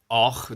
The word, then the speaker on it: Avoch: I spent there 2 nights, and it's called Och. They pronounce it Och in the Scottish or Gaelic language.